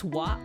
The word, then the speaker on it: は: But there's a re this is actually like pronounced as wwah for this sentence.